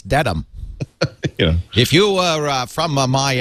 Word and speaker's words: Dedham: asked or the woman had pronounced it as dead ham you know and i kind of raised my hand i said actually it's uh it's a dedham no you're wrong it's dedham if you were from